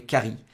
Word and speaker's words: Cary: Au même endroit, il y avait Cary, C-A-R-Y. Le Cary, c'est comme le curry.